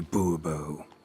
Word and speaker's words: Buurbeau: Monsieur de Buurbeau. The emphasis falls on the last syllable.